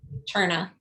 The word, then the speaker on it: Terna: How do you pronounce his last name? Cherna.